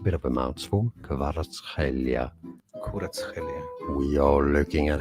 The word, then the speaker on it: Kvaratskhelia: In the original language, it sounds like Khvicha, Kvaratskhelia, Kvaratskhelia.